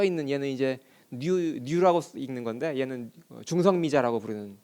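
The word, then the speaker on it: ν: 여기 좀 이상한 글씨로 써 있는 얘는 이제 뉴라고 읽는 건데 얘는 중성미자라고 부르는 입자예요.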